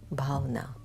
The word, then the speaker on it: bhavna: word write it down b h a v as in victor and a bauna that's how you pronounce it i think my hindi